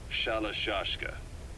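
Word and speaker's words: Shalashaska: The guerrillas were using the name amongst themselves, and by the time I got to hearing about it, pronunciation had wound up as Shalashashka.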